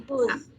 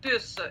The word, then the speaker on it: puce: Une puce. Ouais. Attention, hein, avec le son OU, U. OU, U, alors là, c'est puce, une petite puce.